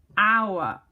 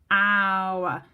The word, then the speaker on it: hour: But an hour, hour. Doesn't start with a H. That H is silent. So it starts with a vowel sound, which means therefore it should start with a H.